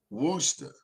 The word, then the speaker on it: Worcester: county no he's in um uh worcester county worcester that that's how you pronounce it uh todd is it somerset county